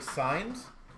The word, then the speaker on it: Sainz: Is it Sainz or Sanz? So, Sainz number one, Sanz number two. Or is there a third option that I'm just not saying it correctly on either of them. Sainz Sainz Sainz Wait, sounds like signs. Oh, signs, okay.